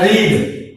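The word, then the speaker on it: read: ये 3 फॉर्म है रीड की, लेकिन लिखने में स्पेलिंग नहीं होंगे, लेकिन इसकी प्रोनाउंसिएशन जो है वो डिफरेंट होगी। उसको बोलेंगे रीड, रेड।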